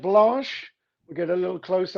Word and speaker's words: Blanche: david this is called blash we'll get a little close up for you there is it spelled like b-l-u-s-h now it's spelt like uh blanche in a street car named desire that's b-l-a-n-c-h-e okay got